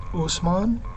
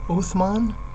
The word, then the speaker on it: Osman: by the name of Usman o-s-m-a-n and people in the west because of a language issue called him uthman o t h m a n and they called his